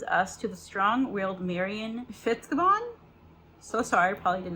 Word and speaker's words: Fitzgibbon: So Dogs of Avalon introduces us to the strong-willed Marion Fitzgibbon. So sorry, probably did not pronounce that correctly. Born in rural Ireland, where animals are valued for their utilities. But Fitzgibbon, there we go.